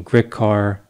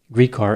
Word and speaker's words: Gricar: his name i've seen grit carr grycar greek car but from what i understand greek car is the way he pronounced his name so that's what i'll